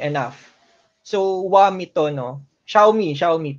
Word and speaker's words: Xiaomi: Xiaomi, pero Wami talagang pronunciation yan.